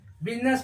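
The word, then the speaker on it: business: होता है ऐसे ही बी यू एस आई एन E double S बिजनेस पढ़ते हैं अब देखते हैं के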